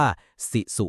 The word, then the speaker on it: sisu: เรียก ว่า ซิุ ครับ ออก เสียง ประมาณ ว่า สิุ นะ ครับ ซิสุ ไม่ ใช่ แค่ ความ